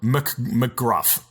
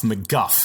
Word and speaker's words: McGuff: Here's a book by Doug McGruff. McGuff. I said it wrong.